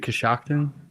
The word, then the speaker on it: Coshocton: Is it Coshocton? Yeah. Shock. And Yeah. you pronounced it right.